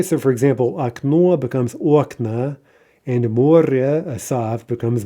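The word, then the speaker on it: окна: Aknoa becomes okna.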